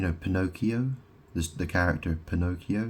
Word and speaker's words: Pinocchio: Pinocchio this the character Pinocchio he's called you know P no keyo it's like he's got no keys or something or he